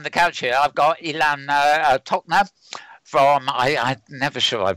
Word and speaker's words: Ilan Tochner: Next to me on the couch here, I've got Ilan Tochner from, I'm never sure I pronounced it right. Is that right, Ilan? Yeah, Ilan Tochner.